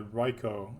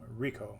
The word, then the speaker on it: RICO: also when they instituted the ryko RICO I'm sorry that's pronounced Rico racketeer Rico it's the